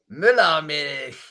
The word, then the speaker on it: Müllermilch: Müllermilch, Junge. Müllermilch. Müllermilch. Try saying it. Müllermilch. I'm sorry, I don't speak hate. Yeah, Müllermilch. So the U is really hard for you to pronounce then.